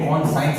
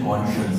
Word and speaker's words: conscience: देखने में कौन साइंस लग रहा है, पर इसका प्रोनाउंसिएशन कॉन्शियंस है।